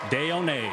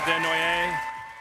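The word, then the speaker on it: Desnoyers: proud to select from the Moune Wildcats, Caleb Deon. Caleb Denoy. There you go. Caleb Denoy. You got some of the pronunci apparently.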